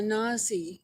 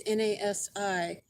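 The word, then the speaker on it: נשיא: Well, just so you know, if you don't already, the Jewish high priest for Judaism is called a Nazi, not Nasi. I don't know how it's pronounced. It's Nasi.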